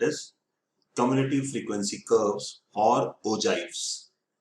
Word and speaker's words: ogive: Cumulative frequency curves और ओजाइव्स। कई बार इसको ओगिव भी बोल देते हैं, बट अगर आप इसकी डिक्शनरी या गूगल प्रेजेंटेशन देखेंगे, प्रोनाउंसिएशन देखेंगे तो ओजाइव ही बोलते हैं।